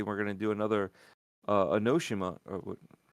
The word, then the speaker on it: Onimusha: I question that one too because it seemed like they were going to do another Onimusha, right? Onimusha? Onimusha. Onimusha, there you go. Yeah. I knew the syllables were off.